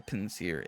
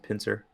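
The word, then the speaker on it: Pinsir: pins here small detail i've never i've never heard it pronounced as pins here i've always said pincer i think i normally do but for some reason when i said the first time i said pins here and that's like i'm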